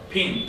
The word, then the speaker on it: Ping: Ping, P-I-N-G, like a ping pong.